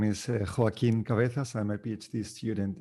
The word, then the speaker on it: Joaquín: Okay, next we have. I learned to pronounce nice try. 10 minutes ago. Please start. Okay, thank you, Rosanne. Thank you, everyone, for listening. So my name is Joaquin Cabezas.